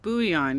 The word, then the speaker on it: bouillon: It's pronounced bouillon. You're fucking French, aren't you? You're French Canadian. It's bouillon cubes.